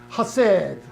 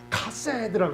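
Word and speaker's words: חסד: 히브리어로 하세드. 하가 묵음이에요. 그래서 카세드라고 그래요.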